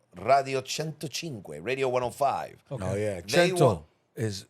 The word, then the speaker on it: Cento: was a radio station in Italy called radio Cento radio 105. oh yeah is 100. they pronounced the Seas as a ch right Italiano